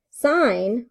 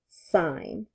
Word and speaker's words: sin: but I can explain it to you so sine what we use for that just for emphasis here is s I n but when we pronounce it it is sine all right cosine is c OS but when